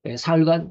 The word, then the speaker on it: 사흘: 땅속이고 무덤 속에 사흘간 있었습니다. 사흘은 뭡니까? 4일이 아닙니다. 3일입니다. 4일은 나흘이라고 그럽니다. 사흘 그러니까 이 사자가 있으니까 사라고 넉사자라고 읽으면 곤란합니다. 사흘은 3일입니다.